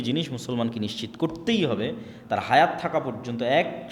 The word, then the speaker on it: তোরাহ: তোরাহ বলে ইহুদিরা উচ্চারণ করে যে তোরা যখন তাওরাত দেওয়া হলো।